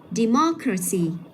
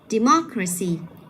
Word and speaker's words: democracy: Vậy mình sẽ nhấn vào âm tiết cách cái âm tiết cuối cùng đấy, gọi là âm tiết số 2 đấy nha. Democracy.